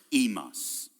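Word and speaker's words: ἡμᾶς: of 4th century speaking, both would be pronounced imas. The upsilon and the eta both become the e sound, as it is in modern Greek as well.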